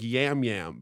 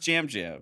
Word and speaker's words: Yam Yam: yeah it's yam yam it's spelled like yum yum like with a Y with a Y but it's pronounced Jam Jam well when I in